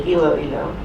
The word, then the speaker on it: Iloilo: Took me a while to figure out how to pronounce that, but it's really Iloilo.